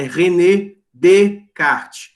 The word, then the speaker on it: Descartes: de carta um francês você não pronuncia o s final então é renée de cá mas escreve Descartes mesmo tá bom vamos lá